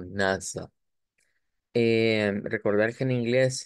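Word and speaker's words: Nase: s e y que en alemán pues se escribe con a y se pronuncia como NASA eh recordar que en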